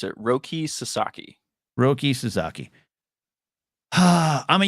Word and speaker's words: Roki Sasaki: a lot Roi I looked up how to pronounce it Roki Sasaki Roki suzaki ah I'm a Yankee fan I'm